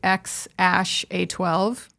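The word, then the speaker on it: X Æ A-12: it was so it's it's pronounced apparently x ash a12 which should make it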